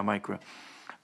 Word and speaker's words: MICRA: and forth um that micro m-i-c-r-a i think it's pronounced yeah micro um and so um